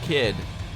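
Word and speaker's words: Kyd: and he's Danish but his surname is hard for you to say because of the Y and the soft D totally dude totally oh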